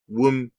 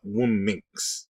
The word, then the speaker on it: womxn: I've heard some pronounce it again, womxn. Really? Minx, as in minx, but womxn.